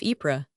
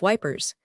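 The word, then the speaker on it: Ypres: It is an ancient tower which has not only always been marked on maps with the name of Epra, but has always been actually pronounced by the name of wipers.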